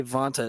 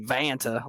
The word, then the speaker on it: Vanta: do first of all you say Vonta it sounds really nice and I say vanta like I just crawled out from under a rock um can you say